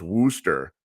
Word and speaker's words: Worcester: the top of the screen his name is pronounced Wooster but it's spelled Worchester uh it's a standard